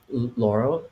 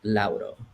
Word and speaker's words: Lauro: I grew up here and in the States, and like my name is like Laurel. Like that's like how you pronounce it in English, but how you pronounce it in Spanish, it's Lauro.